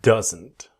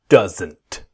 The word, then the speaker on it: doesn't: This video, I want to show you doesn't. Let's go. Same basic idea. Does not, doesn't. But what happens? The T is silent, it disappears.